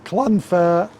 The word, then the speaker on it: Llanfair: name in Wales, and you pronounce it Llanfair. I don't know the rest of it. You're going to have to ask somebody else because I haven't got a clue.